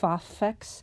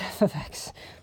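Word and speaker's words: f(x): That's how you say it. It's f of x. It looks like f x, but it's f of x.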